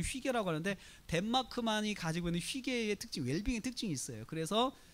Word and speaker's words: hygge: 휘게라는 말을 써요. 휘게. 여러분, 휘게라는 말이 이렇게 됩니다. 휘게. 발음을 휘게 이렇게 써요. 휘게. HYGGE 해가지고 휘게. 이게 덴마크 발음이죠.